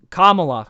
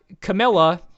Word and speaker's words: Kamala: How you call it Kamala?